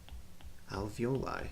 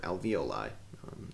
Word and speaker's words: alveoli: bronchial tubes and they're known as your alveoli or alveoli kind of pronounced both ways and they're essentially little